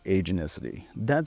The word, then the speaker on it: agenticity: We now have something called agenticity — the tendency to believe that events are caused by intentional agents rather than random forces. (Pronounced: AJ-en-TIS-uh-tee) Psychologist Justin Barrett wrote extensively on this in 2004.